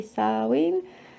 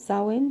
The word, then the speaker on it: Samhain: Happy Samhain. Some people pronounce it Samhain. Some people say Samhain.